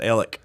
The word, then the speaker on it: Alex: town right beside us it's spelled alex they pronounced it ellick and my miami oklahoma